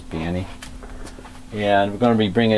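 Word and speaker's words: Baní: dominican uh danny b-a-n-i i think the sauce pronounces banny and we're gonna be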